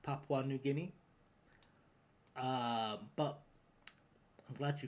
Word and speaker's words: Papua New Guinea: Where is Where is Mama New Guinea? That's a great question. That's a great I mean to be fair I ced that to myself because it is actually pronounced Papua New Guinea.